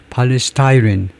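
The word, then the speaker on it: polystyrene: 안 보일 수도 있는데 그래서 하여튼 발음은 팔리스타이린 팔리스타이린이다 이죠 우리말로는 폴리스토이라고 하지만 영어로는 팔리스타이라고 발음을 하고요.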